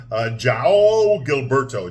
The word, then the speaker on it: João Gilberto: It's sang by this guy named I can't pronounce his name. It's Portuguese. João Gilberto.